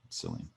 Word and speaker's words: Cillian: Cillian. Imagine if Nick said that every single time he mispronounced something.